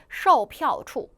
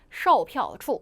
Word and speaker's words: 售票处: 첫 번째 제시 단어 팔다가 show, 티켓, 票, 그 다음 장소가 处 합쳐지면서 매표소 다시 읽어보면 售票处售票处 다 사성이에요. 강하게 찍어주시면 됩니다.